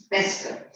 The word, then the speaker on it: Pescud: No. Pescud. Hey, let me see the pronunciation 1 minute. I don't doesn't know what name. Your name. Is it a real story? No, it's a fiction. Okay. Oh yeah, that's it. Pescud. That's correct.